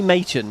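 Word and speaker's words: Maechen: It is actually Machen, not Macon. So we got to remember that.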